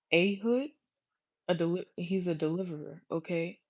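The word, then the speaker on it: Ehud: 164 after that this means um a deliverer eood the son or his name is pronounced ahood a he's a deliverer okay um he's an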